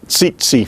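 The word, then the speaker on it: tsetse: the word itself itself there you have ts together in english or even more importantly in the tsitsi fly see c fly there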